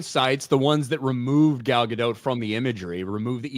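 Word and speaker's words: Gal Gadot: you you pronounce it galgadot I know I know I know with a hard T at the end gal soon as I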